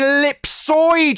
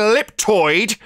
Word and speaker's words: ellipsoid: to call me stupid it's an ellipsoid you stupid idiot running around calling it an elliptoid is going to make